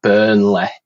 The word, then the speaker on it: Burnley: Yeah, and it's like where I live, it's a town called Burnley, but rather than it being like Ley, we pronounce it Leh, so it's like Burnley.